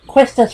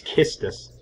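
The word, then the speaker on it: Quistis: to be pronounced as i think i always pronounce it questions when i was a kid i think it's kiss no no i figured it out it's kissed us i always pronounce it thoma turtley thoma turkey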